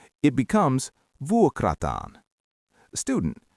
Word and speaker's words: vuokrata: The verb is vuokrata.